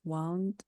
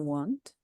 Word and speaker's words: wound: The bandage was wound around the wound. Thank you, Winnie. And yes, you're right, Winnie. So look, we have these two words that look the same, but they are pronounced differently, right?